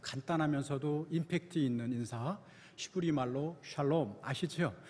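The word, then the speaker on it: שלום: 임팩트 있는 인사 히브리말로 샬롬 아시죠 옆 분들과 함께 샬롬 하고 인사하겠습니다 발음을 잘하셔야 됩니다 잘못하면 살롬 이게 아니라 하나의 화가 여러분과 여러분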